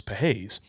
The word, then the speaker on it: Pages: You will be shocked to know that I mispronounced the guy's name, but it's not Pages, it's Pages.